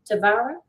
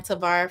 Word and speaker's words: Tavara: said your name right is it pronounced tavara yes you have it right jackie a lot of